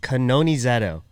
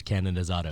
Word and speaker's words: Canonizado: attack it right away how do we say your last name i feel like it's been one of the most mispronounced names in tricking history i don't think anybody will argue that for sure uh it's kanoni zetto i feel like everyone in the world says cannon is auto cannon and they've been screaming